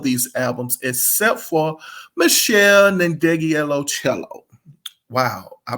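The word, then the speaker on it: Ndegeocello: had all of these albums except for Michelle nandegielo cello wow I pronounced it right the first time but I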